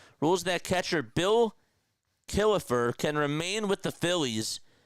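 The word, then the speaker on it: Killefer: reserved clause was uninforcable, he also found that Kilifer had a moral commitment to the Phillies even if a valid contract was not in place. Yes, Kilifer. That's spelled K I L L E F R.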